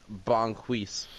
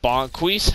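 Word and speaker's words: Bo'Quis: name the character uh bonquise bonquise okay how do you spell that bo1 apostrophe q-u-i-s okay apostrophe q-i-s q-u-i-s i q-u-i-s bonquise hopefully this is the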